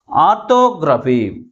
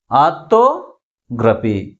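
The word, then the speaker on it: orthography: దీంట్లో ఎన్ని సిలబల్స్ ఉన్నాయి? 4 syllables ఉన్నాయి. ఆ 4 syllablesలో ఏ సిలబల్ ఎక్కువ ఫోర్స్గా పలుకుతుంది? Third syllable from the last. Primary స్ట్రెస్ని ఎక్కడ ఉంచాలి? లాస్ట్ నుంచి మూడో సిలబల్ ముందు ఉంచాలి. ఎందుకని? ఇది GRAPHY గ్రాఫీ అనే సఫిక్స్తో ఎండ్ అయింది కాబట్టి ప్రైమరీ స్ట్రెస్ని లాస్ట్ నుంచి మూడో సిలబల్ ముందు ఉంచాలి.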